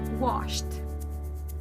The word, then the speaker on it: washed: even though it ends with easy but the pronunciation is for the last time looked next word is washed everybody say washed don't say wash it or face say washed